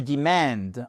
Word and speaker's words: demand: Mais vous avez aussi le verbe to demand en anglais avec une accentuation sur la seconde syllabe qui ne signifie pas, et c'est là où est le piège, demander, mais qui signifie exiger.